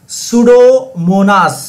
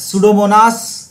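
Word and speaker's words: Pseudomonas: इज the correct answer सूडोमोनास सूडोमोनास piece silent है याद रखिएगा यह सूडोमोनास the correct answer सूडोमोनास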